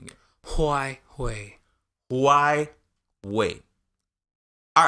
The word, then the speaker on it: Huawei: First of all, how you pronounce that company name again? Huawei.